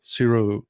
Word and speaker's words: cerro: Cerro is Sierra. You pronounce it as the Sierra, but it's actually the Mexican word is Cerro, Cerro, Cerro Gordo.